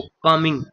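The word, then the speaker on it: calming: तो कमिंग कमिंग की कमिंग भी क्या होता है? इसका मतलब क्या होता है? कम कर देना या शांत कर देना। इसमें जो एल होता है, यह साइलेंट होता है।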